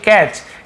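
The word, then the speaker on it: catch: labour अब आगे देखिए कैच यहां पर भी देखिए कैच टी साइलेंट है कैट च नहीं पढ़ेंगे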